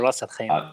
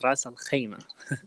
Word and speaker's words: Ras Al Khaimah: I'm impressed that you pronounce it like Arab people pronounce it, Ras Al Khaimah, not Ras Al Khaimah.